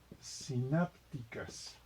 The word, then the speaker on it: sinápticas: Entonces vamos a ponerle aquí conexiones sinápticas, con acento en la A porque es esdrújula.